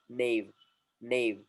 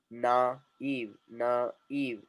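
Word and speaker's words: naïve: It was only one syllable before. Nave, nave, nave, nave. And now it became two syllable word. Na, eve, na, eve, na, eve, na, eve. It became two syllable words. Why? Because of the diaresis. Diaresis has cut two vowels.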